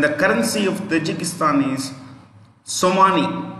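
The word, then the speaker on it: somoni: immorally romanov the v in the end is pronounced with an f and the currency of tajikistan is somani s o m o n i i repeat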